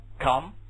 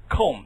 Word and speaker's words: comb: pottery 这个念 tomb 这个呢 comb right 啊都是不发音的 right 请注意啊注意这个规则你要注意 right comb tomb right 今天来了一个